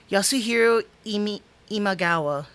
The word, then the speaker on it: Yasuhiro Imagawa: Oh yeah, Yasuhiro Imagawa. Yasuhiro Imagawa. Apologize for that, folks. I'm trying to still pronounce the names.